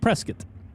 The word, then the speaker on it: Prescott: it's pronounced Prescott but it's not it's pronounced Prescott so Prescott Arizona The Mach 1 chassis